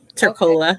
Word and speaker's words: Tercola: So Tercola, did I pronounce that correctly? Yes, Tercola.